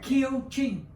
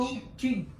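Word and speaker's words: Kiều Chinh: Can you give the correct pronunciation of your name? I just want to make Oh, sure. yeah. I got it. Kieu Chinh. Kieu Kieu Chinh. Kieu Chinh. Kieu Chinh, yeah.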